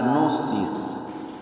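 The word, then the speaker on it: gnosis: Entonces, repito, la palabra literalmente descrita es g n o s i s. nosis traducido en griego es no ser y no ser más o menos pronunciado.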